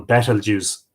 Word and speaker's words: Betelgeuse: by the red giant star Betelgeuse at the unpronounceable battle juice that some people call Betelgeuse and better news